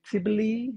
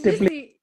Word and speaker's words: Tbilisi: Tbilisi? How do you pronounce it? Tbilisi. We are in Tbilisi, Tbilisi okay.